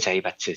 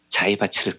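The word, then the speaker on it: 財閥: 일본어로 자이바츠라고 읽고요. 예. 미쓰이, 미쓰비시, 스미토모, 일본을 대표하는 3대 자이바츠 재벌들입니다.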